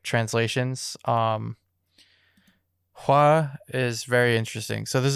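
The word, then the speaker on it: 화: the top one is fire which is pronounced hua and then the bottom one is flower also pronounced hua okay yeah so yeah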